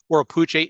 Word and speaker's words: Oropouche: Oropouche is probably the closest way to properly pronounce it based on the Arawak language.